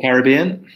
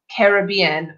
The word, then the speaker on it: Caribbean: The Caribbean, nice destination. Totally. I like this word because, Drew, do you pronounce it Caribbean or Caribbean?